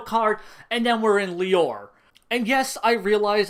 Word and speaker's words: Lior: And this movie then hard cuts us right into the end of the Lior conflict, where they're chasing after Father Cornello, and there's no real emotional impact.